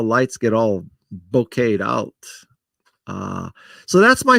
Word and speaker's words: bokeh: love the concept of bouquet there's some controversy how you pronounce that bouquet or bokeh but bouquet where the background is